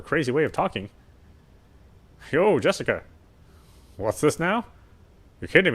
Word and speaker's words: Jessica: Anyway, is pronounced Jessica.